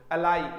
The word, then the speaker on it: ally: अलाई, इसका प्रोनाउंसिएशन क्या हुआ है, अलाई हुआ है, ठीक है, ALLY, ठीक है। अलाई जो वर्ड आ जाएगा उसका मतलब अलग होगा, वो अलई है, ये अलाई है।